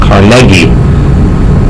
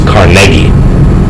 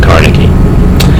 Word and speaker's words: Carnegie: through Carnegie state he steeply his name is pronounced Carnegie so if you want to get fancy he's Carnegie not Carnegie he makes his money off of Carnegie steel